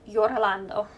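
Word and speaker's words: Iorlando: But his name is spelled I O R L A N D O. So, it has to be Yorando.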